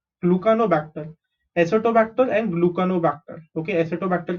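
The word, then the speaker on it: Gluconobacter: Acetobacter, and GLU is glue, CA is ca, NO is no, glucanobacter.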